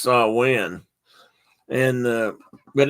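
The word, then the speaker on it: Samhain: is Sam Sam it's s San Juan or Sam Wayne no so in it's actually pronounced sa win and uh but it's another end of the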